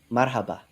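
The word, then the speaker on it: مرحبا: Marhaba.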